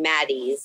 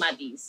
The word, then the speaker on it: Maty's: rest after yeah and I wasn't sure if I was saying it right I was saying Maddie but it's more now it's turning to M Madie but for me it's madis okay yeah um I called